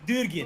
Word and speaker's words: Durgin: Just call him Durgeon. It's Durgin.